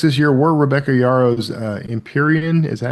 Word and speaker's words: Empyrean: Though the most read books this year were Rebecca Yarrow's Empyrean, is that how you pronounce that?